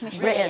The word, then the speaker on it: British: British. Yeah, without the T. Pronounce it like that.